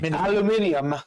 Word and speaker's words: aluminium: Jason says the Brits say aluminum weird. Totally agree. They add an extra I. Aluminium. They add an extra I to it.